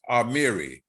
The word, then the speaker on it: Amiri: by it amiri and it's pronounced amiri amir amiri amir amiri